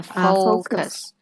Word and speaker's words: focus: Focus nó là u n nó sẽ là focus focus focus focus focus và nói luôn focus